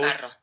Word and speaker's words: carro: Car is carro. carro, Carro. Yes, it's raspier than if you would have only one R.